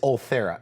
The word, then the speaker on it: Ultherapy: with the with the face with this this althera am I saying it right correct we can